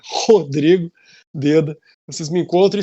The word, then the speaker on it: Rhodrigo: Rodrigo, então se escreve RHO Drigo, né? Rodrigo Deda.